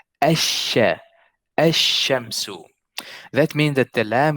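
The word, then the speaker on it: الشمس: I did not say al-shamsu. I said ash-shamsu. That means that the lam is silent here.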